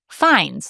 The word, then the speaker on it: Fiennes: He's Rafe, like safe, and Fines, like signs.